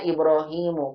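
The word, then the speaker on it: إبراهيم: Ibrahim juga kita bacanya Ibrahimu. Kok aneh ya? Padahal kan nggak ada alif lamnya, kok tidak bertanwin, begitu.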